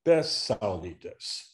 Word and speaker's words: bezsaulītes: So for example, the words bez saulites becomes besaulitas. That Z becomes an S.